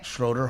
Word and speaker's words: Schroeder: Schroeder Hall.